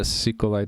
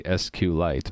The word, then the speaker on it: SQLite: The way it's spelled, capital S, capital Q, capital L, lowercase ite, makes me think it should be SQLite, but database diff, there's their version control software.